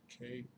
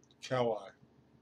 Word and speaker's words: Kauai: And why don't we K-A-U-A-I. I'm sorry, guys. Let's see. Pronunciation. There's no V sound. Kauai.